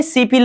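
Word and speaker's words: 십일: देखने में सिपिल लग रहा है। लेकिन यह हमेशा सिपिल नहीं होता। मैंने क्या कहता कहा था पहले कि अगर किसी भी लेटर के नीचे लेटर तो आ गए। यहां पर ब आ गया। ब नीचे आ जाने पर प का उच्चारण करेंगे।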